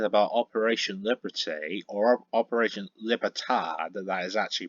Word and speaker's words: Libertad: I've been thinking about operation Liberty or operation libertad that is actually pronounced but in English it's operation Liberty where